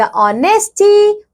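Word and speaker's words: honesty: बारे में पढ़ेंगे बच्चों here it is written H ओ एन ई एस टी वाई बट हम एच को साइलेंट रखेंगे यहां हम क्या पढ़ेंगे यहां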